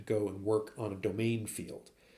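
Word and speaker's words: demesne: be areas called The Domain um and it's spelled D M NE um so if you see that word pronounced domain that was the part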